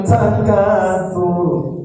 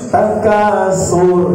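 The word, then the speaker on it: التكاثر: Atau di surat lain lah, alhaakumut takatsur. Suka dibaca kedengarannya takasur. Jadi huruf sin juga.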